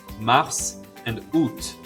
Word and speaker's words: mars: The next ones are the ones in green, mars and août. I taught you that T and S are usually silent at the end of the word. Not this time. Mars and août are fully pronounced.